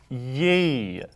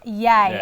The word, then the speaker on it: Ye: kane also known as ye that really shows your age will because it's pronounced yay and yes will is